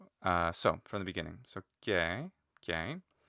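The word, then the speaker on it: καί: So Kiai, long vowels like diphthongs get shortened in front of other vowels. So not merely kiai eutheos, but kiai eutheos gets shortened, which even might end up being just kie if you're saying it really fast.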